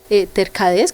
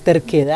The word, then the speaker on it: terquedad: Entonces puede que venga alguien que viene parte de Dios, pero uno por su inseguridad o por su tercadez, ¿cómo se pronuncia? Vos terquedad.